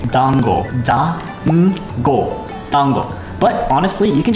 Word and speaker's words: dango: rise so if you're wondering how to properly pronounce it it's dango tango but honestly you can just pronounce it